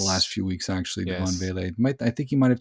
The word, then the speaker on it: Vele: And DeVaugh Vele, is that how you pronounce his name? Vele.